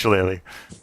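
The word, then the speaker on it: shillelagh: on my mace log there's no wrong way to pronounce it there's also no right way to pronounce it unless it's shalele shalele all right I say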